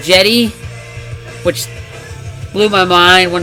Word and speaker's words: Cedi: I did not know I've always called him steady but I guess it's pronounced jetty which blew my mind